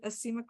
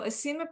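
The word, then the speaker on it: asemic: have folks heard of acemic writing so acemic writing it's spelled ase mic acemic and like a lot of words it's from the greek yep that's it evaea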